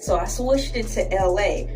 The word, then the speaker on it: Elay: First off, my government name is Ursula and I don't like it, so I switched it to LA, pronounced like LA, like the city.